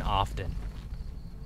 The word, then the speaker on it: often: I just pronounce the T in often.